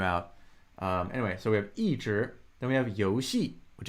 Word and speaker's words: 一直: Some people will pronounce this 一直. It's a little less common, but 一直, there's something called an E-tone sandy, which will amend the tone on E depending on the subsequent tone.